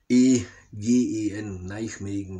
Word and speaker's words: Nijmegen: Also heute, niederländisch glaube ich ausgesprochen, wird es Nijmegen, N-I-J-M-E-E-G-E-N, Nijmegen würde ich es aussprechen. Ich hoffe, die Niederländer können mich bestätigen, wenn nicht, sollen sie es korrigieren.